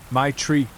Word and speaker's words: Maitra: Her name was Maitra. I asked her to repeat it because I'd never heard it before. She laughed and said, "Everyone just calls her my tree," which is basically how you pronounce it.